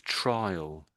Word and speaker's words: trial: you're saying trial, but I would I would pronounce this as trial.